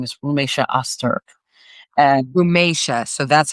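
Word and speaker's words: Rümeysa Öztürk: Um her name is Romesha Auster and Romesha. So that's how you pronounce it.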